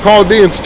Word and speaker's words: Chaldeans: they say that they Chaldeans, right? Or Chaldeans, same thing. Spelled the same way, the H is just silent in Arabic, okay?